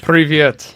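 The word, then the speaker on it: привет: Privyet.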